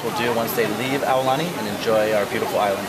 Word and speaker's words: Aulani: pronouncing that right mike is it aulani that is correct good job now here's some people say all ani i think people say you know i'm gonna really hawaiianize it i tell you what